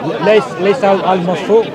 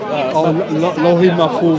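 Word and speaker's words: al-Lawh al-Mahfuz: It's written in, how do you pronounce it? Layth al-Mahfuz? Lohi Mahfuz.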